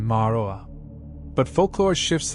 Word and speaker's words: Ma'arue: Ma'arue, keeper of thresholds, pronunciation Ma'aroa.